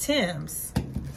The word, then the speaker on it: Thames: a british brand so it looked like it would say something else but they are pronounced tims so i seen these